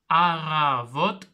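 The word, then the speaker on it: Առավոտ: Ici, on prononce bien R.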